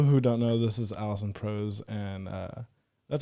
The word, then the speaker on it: Alison Prose: So people who don't know, this is Alison Prose, and that's how you say it, right?